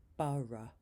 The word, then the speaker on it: borough: Number 7 is the schwa, In the word thorough, the last 4 letters become like in the end of the word teacher, thorough, borough.